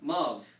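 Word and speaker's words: ⲙⲁⲩ: So this letter is pronounced as a V. So the whole word will be pronounced Mav.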